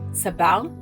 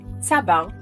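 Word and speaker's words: צבר: in Israel as sabis by simply Shifting the syllable emphasis from sabar referring to the cactus to sabar both written the same in Hebrew we land on the Hebrew term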